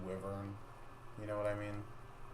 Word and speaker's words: wyvern: Brown whatever I know I know wyvern is the correct way to say it but I don't like that way to say it Apple podcast I look at the word and I see wyvern you know what I